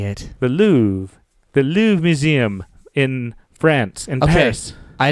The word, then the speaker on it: Louvre: The Louvre. The Louvre Museum in France, in Paris. I didn't hear Louvre. I heard Lou. I guess the Louvre. Is it Lou? Is it the Louvre or the Lou?